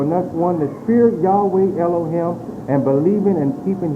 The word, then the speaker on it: Yahweh: And also, if you look in the Encyclopedia Judea, volume number 7, page 679, the pronunciation of Yahweh, Y-H-V-A, is pronounced Yahweh.